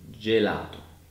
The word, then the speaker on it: gelato: But when G is followed by the letter I or E, it becomes a soft J sound. And we can see it in gelato.